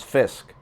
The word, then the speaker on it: Fiske: Braden Fisk highlight and the announcers pronounced it as Fisk silent E just a heads up